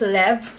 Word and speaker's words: Levres: It's pronounced as Lev, French word of lips.